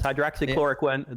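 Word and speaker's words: hydroxychloroquine: Hydroxychloricquin.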